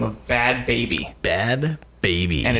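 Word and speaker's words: Bhad Bhabie: So, this one is about a girl that goes by the name of Bad Baby. Bad Baby. And it's spelled BHAD BHABI.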